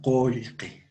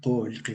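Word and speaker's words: qullqi: Entonces, decíamos que en la forma oral va a haber, se va a pronunciar con E o con O.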